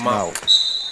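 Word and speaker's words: Mauck: M-A-U-C-K, but they told me it's pronounced Malk.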